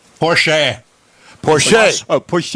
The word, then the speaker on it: Porsche: I met him said Porche Porche oh Porche it's Austrian and that's how they pronounce that final e it's sort of like